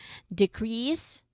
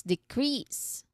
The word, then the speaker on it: decrease: The noun version has a stress on the first syllable, while the verb version has a stress on the second.